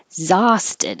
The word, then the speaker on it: exhausted: cream exhausted exhausted again you don't release that k i'll put that little mark there exhausted i'm exhausted this one